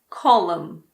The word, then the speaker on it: column: Column, condemn, dam, hymn. What about the letter P? Well, we don't pronounce P if it comes at the beginning of a word before an S.